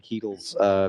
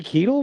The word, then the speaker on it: Keitel: Harvey Keitel was his name. He's a Harvey Keitel. Keitel. Keitel. Okay, yeah. I thought I heard it, but yeah, okay.